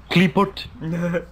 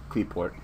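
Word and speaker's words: Qliphort: Kleeput. Kleeput. Well, Kleefort. Whatever that new name is. Kleeport. Yeah, Q-L-I makes the, apparently makes the Klee sound, so it'd be Kleeport instead of Kleeput.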